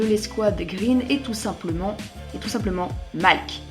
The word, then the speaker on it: Malk: Et le dernier membre de l'escouade Green est tout simplement Malk. Ça s'écrit avec un M-A-L-R-K, mais le R ne se prononce pas.